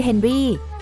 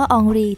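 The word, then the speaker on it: Henri: นี้ มา โดย ตลอด และ นี่ คือ เฮนรี่ แต่ การ ออก เสียง ชื่อ ของ เขา ว่า อองรี จึง จะ ถูก ต้อง กว่า เพราะ เขา เป็น คน ฝรั่งเศส คุณ อาจ สังเกต เห็น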